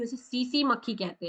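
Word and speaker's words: tsetse: इसे सीसी मक्खी कहते हैं। क्या? सीसी। अब आप सोचेंगे कि इसमें टी क्यों है? तो ये टी साइलेंट है।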